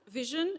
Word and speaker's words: VSHN: Vision is spelled as vshn, but it's intended to be pronounced as what your eyes do.